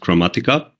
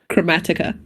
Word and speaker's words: Kromatika: kinda uh mentioning them so the spelling was kind of wrong so it's it's uh pronounced chromatica chromatica lovely right right it comes actually the name comes from automatic so it's a it's a word play chromatic automatic a little bit so let's start